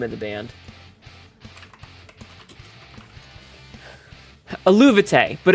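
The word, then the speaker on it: Eluveitie: I got something pronounced right here. Wait, what? Yeah, it's Aluvite.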